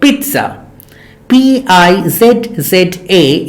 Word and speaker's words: pizza: probably love it and so this is called Pizza p-i-z-z-a is called is pronounced pizza not pizza or pizza or pizza